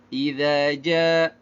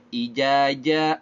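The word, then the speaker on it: إذا جاء: Kok dibacanya ijaja, orang idzaja. Ini secara makhraj walaupun sama-sama lisan tapi berbeda tempat keluarnya ya. Idza ujung lidahnya keluar sedikit, kalau ja keluar dari tengah lidah.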